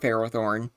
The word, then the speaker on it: Ferrothorn: This is the one and only time in the video I'll call it Ferrothorn. I'm pretty sure Farthornne is technically the correct way to say it, but even if it